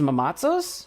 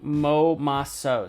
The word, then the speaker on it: momazos: More like Momaso. So I'm pronouncing the Z wrong.